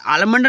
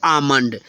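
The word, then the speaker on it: almond: बिल्कुल ही गलत है आलमंड नहीं पढ़ेंगे इसको आमंड ठीक है ओके तो फ्रेंड्स इसको हम पढ़ेंगे आमंड आलमंड नहीं ठीक है तोय बादाम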